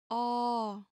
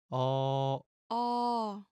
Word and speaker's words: 어: Listen carefully to the pronunciation. 어, Now pay attention to these 2 characters. It might be easy to confuse the 2. If the small strokes is on the left, it is A. 어, If it is on the right, it is